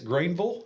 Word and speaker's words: Greenville: Yeah, if you're local, it's Greenville. It's Vulle instead of Ville.